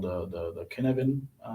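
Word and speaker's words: Cynefin: called the the the kinevin framework um i'm pronouncing that right as welsh so that things can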